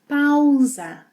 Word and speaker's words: pausa: In Portuguese, the AU sequence has 2 sounds. Au, au. It's similar to the sounds we have in cow. Au, au. When the letter S is single and between vowels, it has a Z sound.